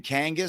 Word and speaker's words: Kangas: Shano TV had the nickname, rhymes with my last name Kangas since high school.